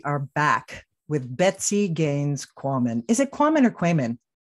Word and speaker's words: Quamman: back with Betsy Gaines Korman is it common equipment I always just say it rhymes with Ramen you know I've only